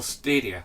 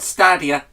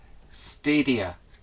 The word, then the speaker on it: Stadia: I mean, you know, look at Google Stadia, not Stadia, Stadia. Okay, that's how it's pronounced, and it's Mark Cerny, not Cerny or Turney or whatever.